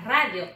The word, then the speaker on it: radio: En la radio, in English. Radio. Again. Radio. Se escribe igualito, ¿ah? ¿Eh? Se escribe igualito en español y en inglés. Radio, pero se pronuncia radio.